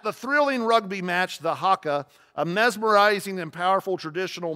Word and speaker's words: haka: the those things in a rugby called a hacku or hacka you should Google that on a on a um did I not say it right Haka thank you yes so this is an witness